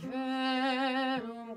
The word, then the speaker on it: verum: Ave verum corpus natum de Maria Virgine. One more time, tenors. Notice I, for all the voices, that I really make sure I pronounce V, verum, and then Virgine, okay?